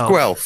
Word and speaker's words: Guelph: It is It is Guelph. Rhymes with Guelph. self. Guelph.